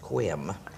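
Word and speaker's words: Sequim: town called Cooum and it's seq uim but it's pronounced quim he lives in another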